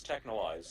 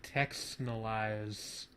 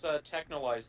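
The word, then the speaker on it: Texhnolyze: Is that how you say it? Technolize? Yes, Technolize. I always thought it was like Texnolize or something. No, it's Technolize. They say at the beginning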